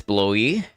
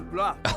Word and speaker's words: Blois: Escort Joan to, how do you say this, Blois?